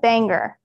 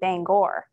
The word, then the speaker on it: Bangor: the lab is and do they say Bangor or Bangor I kind of have picked up Banger I I think that's how they say it I've start I started out saying Bangor but then no one else said that and so just slowly my language has morphed into Banger yeah that's I think